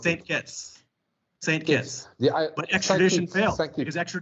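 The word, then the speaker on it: Saint Kitts: Caribbean in the island of kites kites of kits we pronounce St kits St kits the but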